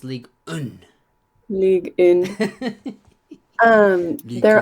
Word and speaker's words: Ligue 1: They're an Oh, in France, yeah, it's actually pronounced Ligue 1.